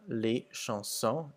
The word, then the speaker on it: les chansons: So you'll see that the S's are pretty much not pronounced at the end of the words, except for les hommes, where it makes a Z sound.